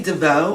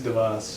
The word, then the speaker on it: DeVos: I homeschooled my son for a period, and we were talking about is it Betsy DeVoe or Betsy DeVos? That's Betsy DeVos.